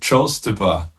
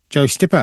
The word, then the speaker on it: Joe Styppa: Welcome to the Drum Shed podcast and tonight we've got Joe Stipper. Is that how you pronounce it? Yes, that's it. Joe Stipper. Joe Stipper.